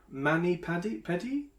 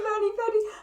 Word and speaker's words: mani-pedi: Mani Paddy? What is that? Have I completely mispronounced that? No, a mani-pedi. I love the fact that you... It's a manicure and a pedicure.